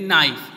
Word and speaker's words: knife: चाकू, जिसे हम कहते हैं नाइफ, यहाँ के साइलेंट रहता है बेटा, KNIFE, नाइफ, नाइफ मीन्स चाकू।